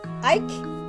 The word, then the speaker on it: Ike: His name rhymes with Mike. Starts What's with that? the letter I. He's a bear. Ike?